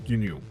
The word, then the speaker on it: GNU: It is pronounced in a single syllable which is known as GNU.